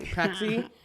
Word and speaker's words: Praxie: Um I also forgot how to pronounce ask how to pronounce her name. Praxi.